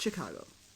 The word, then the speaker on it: Chicago: but you don't pronounce it Chicago, you pronounce it Chicago, like a chick.